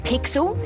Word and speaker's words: Pixel: not weird guy I'm pixel it's easy to remember because it rhymes with pickle so does I'm Foster